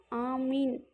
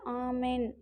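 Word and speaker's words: آمين: ஆமீன் என்பதன் பொருள் ஆமீன், அப்படியே ஆகட்டும், இறைவா ஏற்றுக்கொள்வாயாக என்ற அர்த்தம் கொண்ட ஒரு புனிதமான சொல். இந்த சொல்லின் மூலமே சிரியாக் அல்லது கிப்ரு மொழிகளிலிருந்து வந்ததாக கூறப்படுது. கிப்ரு மொழியில் ஆமேன் என வழங்கப்படும். அரபியில் ஆமீன் என்று உச்சரிக்கப்படும்.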